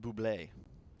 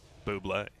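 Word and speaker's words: Bublé: good against his bubble please pronounced Buble Buble is the proper origin pronunciation you guys big Michael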